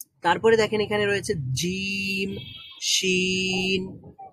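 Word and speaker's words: شين: আর শিন বলার সময় কিন্তু পুরোপুরি লাগছে না।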